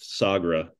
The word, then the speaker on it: Sagra: you pronounce the name how's that said it's pronounced sagra okay like what was the day or the